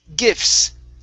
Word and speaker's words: gifts: Let's go to the word gifts. Okay, so in this word, the T is silent. We pronounce an F and an S.